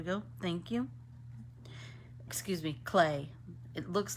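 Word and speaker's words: Klee: I there we go thank you excuse me clay it looks like C but it it's pronounced clay um did we do climp I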